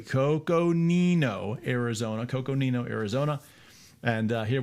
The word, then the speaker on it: Coconino: I always get in trouble too by saying this one incorrectly. So I'm going to say it correctly here, right? Coconino. You guys like when I say it correctly. Coconino, Arizona.